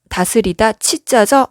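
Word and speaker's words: 治: 다스리다 치자죠. 발음이 치네요.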